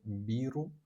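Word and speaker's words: ビール: The word biru. The pronunciation beu.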